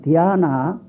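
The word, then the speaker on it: ध्यान: 인도 쪽의 말로 지방 따라서 고장이 넓기 때문에 어떤 쪽에서는 디귿자 발음을 넣어서 디아나, 또는 어떤 쪽에서는 지읒자 발음 넣어서 자나, 이렇게 하는 자나, 지방 따라서 잔해서 마무리하는 것도 있고 자나까지 똑똑히 붙이는 지방이 있어 해가지고, 이 선하는 말은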